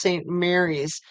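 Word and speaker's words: St. Maries: Dan from Spokane FYI St Marie's is pronounced Saint Mary's oh that's interesting um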